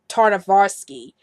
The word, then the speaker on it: Tartakovsky: gen D and I think I said I pronounce his last name is genndy tartakovsky and it's really taarna kvass Tartakovsky you see